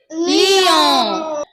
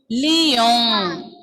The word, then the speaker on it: Lyon: Oui, lion is also having the same pronunciation, and we will pronounce this as Lyon. Lyon.